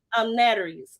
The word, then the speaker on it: Naturi: She is the author of, I meant to ask you, pronounce it, I say Naturi's or Naturi's? Naturi.